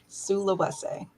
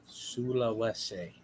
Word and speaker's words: Sulawesi: Sulawesi. Sulawesi.